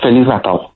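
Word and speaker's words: Feliz: Uh felis.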